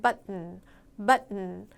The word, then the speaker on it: button: 버튼을 누르는 건데 여러분이 버튼이란 단어의 T 사운드를 버튼 이렇게는 발음을 잘 안 하기 때문에 여러분들이 들으실 때는 button 이 사운드로 들릴 가능성이 굉장히 커요.